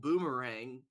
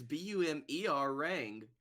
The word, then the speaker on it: Bumerang: I'm pretty sure that's not how it's pronounced, because it's Swedish. Can we play a game where you say it and I have to figure out how it's spelled? Because I'm fairly sure that's Bumireng. Actually, it's Bumerang.